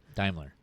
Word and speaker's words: Daimler: Volvo no daimler's Mercedes-Benz Daimler it's Daimler but anyways the German anyways um anywho Americans don't pronounce it right anyways uh I've never